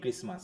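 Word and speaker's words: Christmas: অ্যান্ড the next day would be ক্রিসমাস। ক্রিসমাস বানানে কি টি আছে? না স্যার। কেন, এই যে টি নাই, এই যে আছে তো। জি স্যার আছে। উচ্চারণে টি আসতেছে না, কিন্তু বানানে তো টি দিতে হবে।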